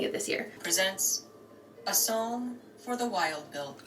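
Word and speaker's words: Psalm: this year presents a song for the wild build why do you not pronounce the P at all like I know with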